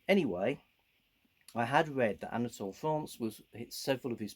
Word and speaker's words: Anatole France: i vaguely knew and i guess it's probably pronounced more like anatole france a french author was